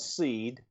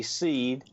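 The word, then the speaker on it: Seeed: to a company called seed and that's spelled s with three e's and a d seed and look at their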